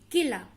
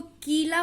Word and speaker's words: किला: किला, अब इसको कीला पढ़ेंगे तो यह गलत लगेगा, किला।